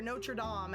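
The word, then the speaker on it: Notre-Dame: The Hunchback of Notre Dame, or Notre Dame, actually, because it's French. So that's how it's pronounced.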